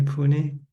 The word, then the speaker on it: Pune: Nita and Saget from Pune, India. Am I pronouncing correctly? Pune.